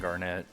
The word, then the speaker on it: Garnet: make me hungry glad i defended with garnett there and if you'll notice i'll half time pronounce it garnet and garnett i will flip back and forth between